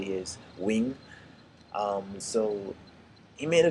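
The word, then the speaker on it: Nguyen: Wing I think his last name you might pronounce it nigan but it's actually the way they say his wing um so he made a video called 99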